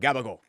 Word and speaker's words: gabagool: So you've got prosciutto, ham, salami, gabagool, lettuce, tomato, onion, provolone, peppers, oil. Gagabo? Cabacola. But gabagool. It's how you say it.